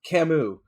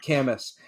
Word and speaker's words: Camus: professor was like yeah but his name is pronounced camus not canvas and my brother was just like [ __